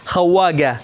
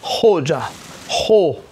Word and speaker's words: خوجة: كلمة خوجة يكتبونها خواجة، والمصريون ينطقونها خواجة، خطأ هذا، خوجة خو هكذا خورزم.